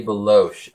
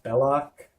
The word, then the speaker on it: Belloq: Working with a man named Rene Beloche. Are you sure his name isn't pronounced Belloc?